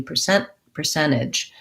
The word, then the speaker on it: percentage: One thing to watch out, if I leave the T out, I don't want a long N. I don't want percentage. I want to do percentage. Keep that N kind of short, or percentage with a little T sound.